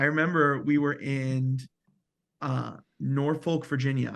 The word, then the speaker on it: Norfolk: we were in uh Norfolk Virginia I think it's pronounced norfol but that sounds kind of weird um we were in